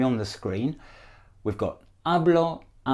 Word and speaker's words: hablo: I can see that nobody's saying the H at the beginning drop the HS in Spanish a blot a blush a blur now you might be